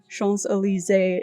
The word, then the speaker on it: Champs-Élysées: It is a French name, Champs-Élysées is how it is pronounced if you want to impress your friends.